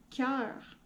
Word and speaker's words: cœur: Celui-là, c'est comme un petit piège. Donc, cœur. On le prononce, on le segmente, on le dit en robot. K, E, R. C'est pas... C'est E, le son du milieu, là.